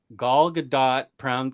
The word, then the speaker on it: Gadot: want to send it gal gadot gal gadot pronounces the t she needs to start